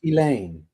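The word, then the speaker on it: Ghislaine: Her name is Elaine. Elaine. That's how I've heard it.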